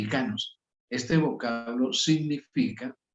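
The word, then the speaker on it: ἱκανός: En griego se pronuncia así, ikanos.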